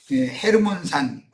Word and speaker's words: 헤르몬산: 갈릴리북쪽 레바논에 있는에 헤르몬산 홀몬산이라고 흔히들 그렇게 발음하죠. 곧 시온산은 하늘의 시온산에 대한 표상이며 땅의 예루살렘성이 세워진 여부스 족속이 차지하고 있던 그 시온산과는 다른 시온산이죠.